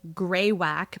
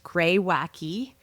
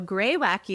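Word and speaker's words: Greywacke: thought the name was Greywack but it's actually pronounced grey wacky which is on their website g r re r e y w a c ke. But you pronounce the e. So, gray wacky svenon blanc from the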